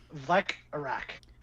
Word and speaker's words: Vlekarak: So it's Vlek-Arak. It's spelled Vlek-Arak, but it sounds better Vlek-Arak.